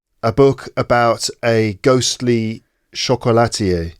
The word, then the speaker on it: chocolatier: Chocolatier.